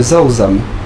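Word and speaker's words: rau răm: Donc ça, il s'agit de Zaozam. Ça s'écrit R-A-U-R-A-M.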